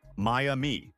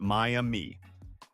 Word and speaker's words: Miami: And lastly, say it right. It's Miami, not Miami. The city will judge you accordingly.